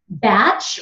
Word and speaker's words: batch: quickly so we've got batch remember I don't pronounce the T in batch it's just batch VA FP catch ka